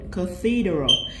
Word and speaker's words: cathedral: Cathedral. Thì C đây lại phát âm thành âm K.